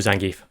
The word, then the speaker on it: Zangief: I learned the Zangief, the way of the Zangief. Zangief. Yeah, Zangief, yes. Excuse me. Apologies. Now that you know the correct pronunciation, you know?